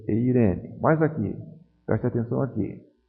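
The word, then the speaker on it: εἰρήνη: Então vejam aqui, Eirene. Vejam que aqui a aspiração está colocada sobre a segunda vogal do ditongo. Já que a aspiração breve, branda, não afeta a pronúncia, eu vou ler Eirene.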